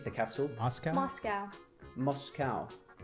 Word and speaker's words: Moscow: Moscow. See, Americans say Moscow. We say Moscow. Well, you'd say cow. C-O-W, cow. Why wouldn't it be a Moscow? Because we say cow.